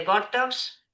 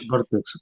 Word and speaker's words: Vortex: Y lo primero antes de presentarte de que eres el CEO de Bortox, Bortox se está bien pronunciado, ¿vale? Vortex, Vortex, Vortex, Vortex, ¿vale?